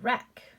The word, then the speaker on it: wreck: silent w rack rack my hair is a wreck silent w gets crossed out ren ren silent